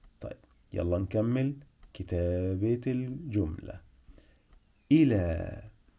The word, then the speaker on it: الى: الى الى الى الى مقطعين الى اي طالما بقول اي يبقى الهمزه تحت لا في صوت مد هنا بعد حرف اللام الى ممكن حد يكتبها كده ل والف احنا فعلا بننطقها كده الى الى وفعلا هنا عندنا برض الف بس مش الالف دي مش الالف اللي عامله زي العصا لا احنا عندنا الف تانيه بنسميها الف مقصوره الف مقصوره نفس شكل حرف الياء لكن